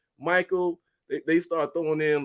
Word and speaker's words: Mychale: Nah, you butchered. Hey, so it's I've Michael.